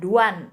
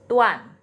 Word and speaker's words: duan: D juga dibacanya T di sini, bukan duan ini ya, tapi tuan.